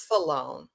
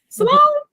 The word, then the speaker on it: Sloan: Salone. Sloan. Put it in 2 syllables. It's not just me, Shannon D. Y'all hear it? Wait. In 2 syllables. Say it right, and I'm gonna try to repeat it. How you say it? It's Sloan. 1 syllable.